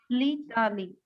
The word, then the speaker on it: L'Italie: I don't know, Litali. madam. This will be pronounced as Litali.